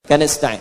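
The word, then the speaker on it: نستعين: Iyaka na'budu wa iyaka nastain. Nasta'in ujungnya sukun. Kalau dimatikan, dibaca ujungnya pasti mati.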